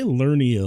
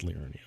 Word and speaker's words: Liurnia: It's supposed to be pronounced Liurnia, by the way.